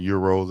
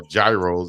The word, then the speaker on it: gyro: Yeah, you go in the South somewhere and they'll pronounce it how we see it. That's gyro, but euros as we call them, I love them.